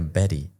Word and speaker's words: Betty: El nombre Betty, que también se pronuncia Betty, ¿no?